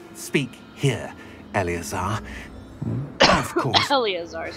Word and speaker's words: Eleazar: Eleazar is how you say that.